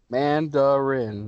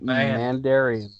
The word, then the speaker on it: Mandarin: god man rinse a man der syllables mandarin not man and dairy Mandarin the Mandarin is